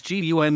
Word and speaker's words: ГУМ: G Russian pronounced gum an abbreviation of Russian TR glad Universal needs